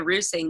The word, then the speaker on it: Reusing: And so it's because I say Roosing, they're like, what? So it's Kendall Roosing, but it's spelled like reusing.